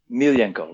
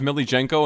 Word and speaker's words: Milijenko: how do you pronounce is it Millie Jenko or Milenko? Milenko, right? Milenko. Okay, perfect. That's what I thought. I've heard it pronounced Millie Jenko and I'm like I think that person mispronounced it and I I want to make sure I got it right.